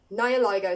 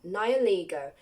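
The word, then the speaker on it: Nihilego: resembles a jellyfish now it says nearly nialligo Naya ligo sounds better but that's not how you say it nioligo is specialized towards influencing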